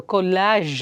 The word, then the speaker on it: collage: ಆದರೆ ಈಗ ಇನ್ನೊಂದು ಕೊಲ್ಯಾಜ್ ಅಂತ ಹೇಳ್ತೀವಿ, COLLAGE. ಅಲ್ಲಿ ಡಿಫ್ರೆನ್ಸ್ ನೋಡಿ, ಕಾಲೇಜಲ್ಲಿ ಒಂದು ಇ ಬಂದಿದೆ, ಕೊಲ್ಯಾಜಲ್ಲಿ ಎ ಬಂದಿದೆ. ಆ್ಯಂಡ್ ಹೌ ಡು you pronounce that ಕೊಲ್ಯಾಜ್ ಅಂತಂದರೆ, ಅಲ್ಲಿ ಜಿ ಇದ್ದರೂ ಸಹ